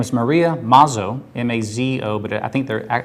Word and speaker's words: Mazzo: I talked to somebody today, and her name is Maria Mazzo, M-A-Z-O, but I think at one time it was two Z's in All there. right, 2 Z's, pronounce one.